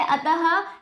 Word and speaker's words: अतः: जैसे अतः शब्द का उच्चारण तो अतः के रूप में होता है, पर लिखने के